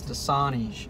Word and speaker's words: Dasani: a today that's okay it's Dasani oh is that how you pronounce e8 it I've been doing it wrong on YouTube this whole time guess who I'm not